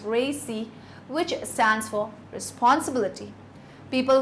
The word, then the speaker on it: RACI: A typical model used for this purpose is called RACI, pronounced RACI, which stands for responsibility.